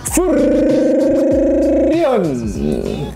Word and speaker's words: Vurrion: Spesialnya adalah ini rakitan by Furion. R-nya banyak soalnya, jadi Furion bacanya.